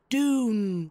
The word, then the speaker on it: Dune: and its first ever Dune parody it is pronounced Dune but did parasites regain to live up to